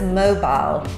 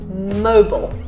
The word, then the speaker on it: Mobile: you can say it okay mobile like a mobile app yes the next one